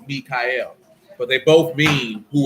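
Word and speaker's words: Miyka'el: thing who was like but one's pronounced different because that one is m-i-y-k-a apostrophe e-l it's mikhail but they both mean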